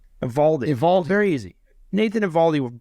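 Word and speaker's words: Eovaldi: The O is silent. Evaldi.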